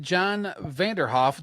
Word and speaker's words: John Vanderhoef: All right, we have John Vanderhoef. Did I pronounce that right?